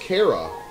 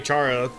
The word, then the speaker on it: Chara: I thought it was pronounced Kara. It is Kara. There is no specific way to say it. I think most people just say Chara.